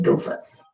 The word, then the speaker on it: gophers: mules sit on stools, gophers sit on sofas, and frogs sit on logs. Well, I think you're supposed to say gophers instead of gophers. So it rhymes with sofas.